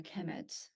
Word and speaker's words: Kemet: uh it will be the noun will be pronounced a chemet so so uh Egyptians